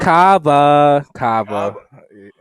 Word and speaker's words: Cava: a little bit actually not actually not wawa it wants a rhymes with wawa though it does rhyme with wawa i'm sorry no no cava yes sir yes what is that